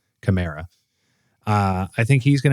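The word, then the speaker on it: Kamara: I'm hoping uh is it is Alvin Kamar or Camra? How do you pronounce his last name? Uh Chimera. Chimera.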